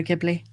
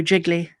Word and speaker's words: Ghibli: Yeah, he said he thinks it's Grogu and the Dustbunnies, the Studio Ghibli. Oh, okay. Or as he Well, pronounces it, Studio Jiggly.